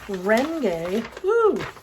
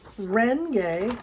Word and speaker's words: Renge: done visual aids so first syllable is nom the second oh don't run away from me here the second is myoho yoho making sure you can see rengay rengay renge kyo and again the whole